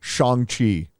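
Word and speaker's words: Shang-Chi: so it's thanos um shang chi i i've never heard it called chongqi in all my years maybe that's the proper pronunciation i have no idea but it's shang chi to me and i'm just going to continue calling in shang chi but that was funny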